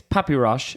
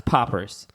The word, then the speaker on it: Poppers: So another thing to clarify that I mentioned earlier, his name is Rabbi Mayor Poppers, but it's spelled P alfud shin. So but people think it's papyrush. It's not. It's poppers, right?